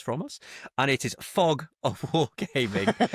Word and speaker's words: Fog: of of podcasts from us and it is fog of War gaming not frog of wargaming like I said last week I